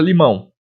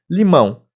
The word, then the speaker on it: limão: O A é vogal e o O é semivogal, que tem aquele sonzinho de U, não é?